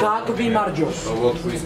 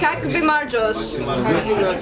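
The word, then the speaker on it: გაგვიმარჯოს: Kak vi marjos. It's to us. To us. Kak vi marjos.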